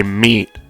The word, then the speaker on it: Meat: It's pronounced meat, by the way. I'm saying by Meat, like my YouTube name, not by me. I'm saying by Meat. I'm sorry I don't enunciate the T enough, but yeah, I am saying by Meat.